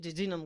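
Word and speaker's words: jejunum: आपको स्पेलिंग नहीं भूलेंगे तो इसको जब हम प्रोनाउंस करेंगे तो क्या पढ़ते हैं? जिजनम।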